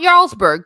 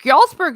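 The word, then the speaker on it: Jarlsberg: here and it's delicious y'allsberg cheese no not yarlsberg yalzberg is what you make with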